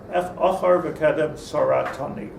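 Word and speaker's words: אחור וקדם צרתני: Achar v'kedem saratani is the proper pronunciation.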